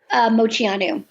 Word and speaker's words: Moceanu: How do I pronounce her name? Moceanu? Moceanu.